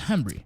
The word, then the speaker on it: Hembree: And last name is pronounced Hembree.